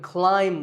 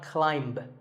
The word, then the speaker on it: climb: If I had a ladder in front of me now, I could climb the ladder, not climb. A quick note, in the pronunciation symbols that you see on the screen, the AI is an I sound, not an A sound. So the word is climb.